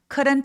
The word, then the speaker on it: couldn't: couldn't 할 때 이 L 발음은 묵음이에요. 그래서 표현이 되지 않습니다. 그리고 쿠 입술 내밀지 않고 크 의에 비슷하게 발음해 주세요.